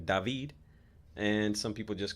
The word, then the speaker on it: David: that's my American name some people call me by my actual name dahveed and some people just